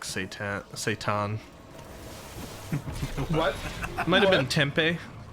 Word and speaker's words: seitan: It's pronounced satin.